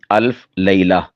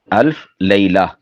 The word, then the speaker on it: الف لیلہ: نا الف لیلہ بولا، یہ اصل میں ہے لیلہ عربی کے اعتبار سے۔ تو چونکہ اردو لہجے میں لیلہ بھی بول دیتے ہیں تو اس طرح دونوں طرح استعمال ہو سکتا ہے۔ ویسے اس کی جو درست ادائیگی ہے وہ ہے الف لیلہ، الف لیلہ۔ تو یہ رات کے